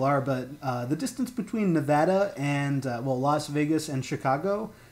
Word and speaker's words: Nevada: Yeah, but you go from Nevada to Utah in New Vegas. It's actually pronounced Nevada.